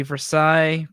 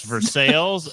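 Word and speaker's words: Versailles: from the town of here we go guys veres in North Central Kentucky I know it should be Versa but in Kentucky it's pronounced ver you say it wrong with the rest of us it's for sales and it's Lille no that's the correct way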